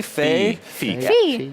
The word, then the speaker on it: Fe: I think was F Fe it sounded like I keep hearing it pronounced different ways during the conference sad and cute just spelled Fe like as in Santa Fe so we can go